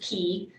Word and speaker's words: Ki: If you're interested, pronounced key, which I don't want you guys typing key in. Yep, like key, yeah.